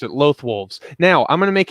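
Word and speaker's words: Loth-wolves: That's how you pronounce it. Lothwolves.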